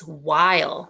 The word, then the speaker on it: while: We have that blend in the beginning, W-H, making the W sound. And then we have a long I word with a magic E at the end, while.